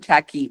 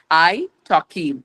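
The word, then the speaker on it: italki: It taki. Okay. It okay. And it's like you know I T A L K I pronunciation is very different and like iPhone when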